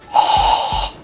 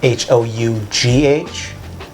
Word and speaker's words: Hough: Ho. Ho. It's like a hoe, but a lot of extra letters. Hough.